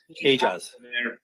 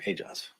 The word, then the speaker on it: Aejaz: Do we have a correct pronunciation of his name? That's the best information I was told. Sorry? Aejaz. Oumair Aejaz.